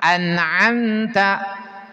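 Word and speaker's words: أنعمت: Anamta. Anamta. Tah di sini jangan salah ngucapin huruf an diawali dengan hamzah. An'amta an'amta.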